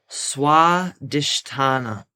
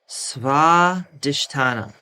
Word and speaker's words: Swadhisthana: Okay, and the way that you pronounce it is Swadhisthana, Swadhisthana, Swadhisthana.